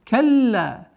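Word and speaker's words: كلا: Калла. Удваиваем ла, после удвоения ляма. Калла. Долгота в размере 4 огласовок, удлиняем фатха.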